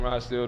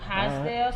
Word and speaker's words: Rochdale: I'm from Rochdale though. Rochdale.